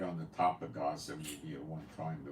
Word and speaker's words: Gaza: on the top of Gaza maybe at one time the wor part of Palestine and Aza where the heck is Aza Gaza that's Gaza that's that's a a Hebrew pronunciation for Gaza so that's Gaza and